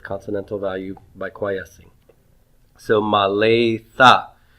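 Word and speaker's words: מָלֵאתָ: So maletha. So since the aleph is not being pronounced, the sere precedes the begad kafet letter tav, and so the dagesh lene goes away. All right? So maletha.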